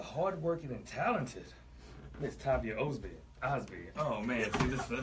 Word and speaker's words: Osbey: She told me it's like Cosby without the C, and I was trying my hardest not to make a Cosby joke.